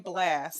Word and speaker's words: Blxst: So you got the name Blast, and so I love it, and I love the way you spell it.